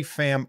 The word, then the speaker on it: Pham: Is it Pham instead of Pham? Have I been saying your name wrong my entire life? They're both fine. It's both fine. Are you it's sure? It's Pham, but Pham is cool too.